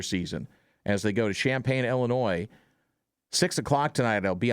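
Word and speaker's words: Champaign: Oregon making their first trip to the lovely Champagne, Illinois. Not spelled like regular Champagne, but with an I.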